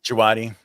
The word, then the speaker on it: Djawadi: Djawadi.